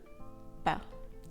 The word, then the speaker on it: pas: Not equals ne pas in French. When only one word is used in English, not, French use two, ne and pas, with a silent S thrown in the mix to keep you on your toes.